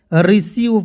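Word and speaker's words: receive: बिल्कुल ध्यान से देखिए जब किसी वर्ड में ई आई आए तो ई आई को क्या पढ़ते हैं बड़ी ई के रूप में पढ़ते हैं और बड़ी ई के उच्चारण मैं बता देता हूं इस तरह मात्रा होता है बड़ी ई की मात्रा अब आइए यहां पर समझिए जैसे आर ई सी ई आईवी ई क्या पढ़ेंगे रिसीव पढ़ेंगे अब कहिए सर कैसे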